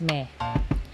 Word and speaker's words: mes: form of my is Mei Mei ends in S so normally the S is silent and followed by a vowel it becomes miss and in this